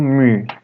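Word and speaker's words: μῦ: Em seguida temos o mu, cuja pronúncia é igual ao M. Mu.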